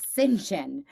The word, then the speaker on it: St. John: So her middle name was St. John, and I guess in the Catholic Church they call it St. John is like the correct pronunciation. Okay. And I was like, had no, so she just told people to start calling her Sainty instead of Sinjin at the school.